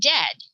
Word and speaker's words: dead: sounds like bird and dead it's said like bed not bead for goodness sake don't call it deed watch out for meat